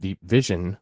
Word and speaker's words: DEEP VZN: The program Deep VZN, pronounced Deep Vision, was launched October 2021